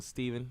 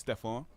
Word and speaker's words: Stephon: We got Ashley here waiting on Steven, who's late. He'll be mad at that. It's Stephon. Oh, sorry, Stephon. I didn't know how to pronounce it.